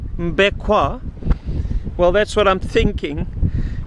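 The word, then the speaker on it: Mbé Kouen: We're at another little island called MBE KOUEN, and the way that is spelt is MBE, MBE, and KOUEN, K-O-U-E-N, which I think in French would be KOUEN, MBE KOUEN.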